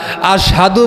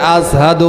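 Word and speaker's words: أشهد: আশহাদু বলতে পারে না। আশহাদুশের জায়গায় হযরতে বেলাল সিন উচ্চারণ করে। আসহাদু উচ্চারণ করে।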